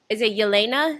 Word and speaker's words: Yelena: So is it Yelena?